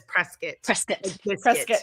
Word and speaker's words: Prescott: Wow have a Prescott Arizona but everybody says presc presc pres yeah like it's a press kit yeah like